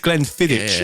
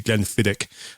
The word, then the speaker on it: Glenfiddich: I said Glenfiddich as well last week when it's meant to be Glenfiddich.